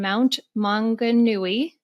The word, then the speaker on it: Mount Maunganui: And she resides at the beach in Mount Maunganui, New Zealand, with her husband and daughter.